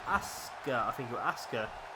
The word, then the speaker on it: Asuka: ASA I think you ASA so essentially you're it's you're saying Asuka which is how it's spelled but you're you're just missing the U out really so ASA you just saying it really quickly that's uh that's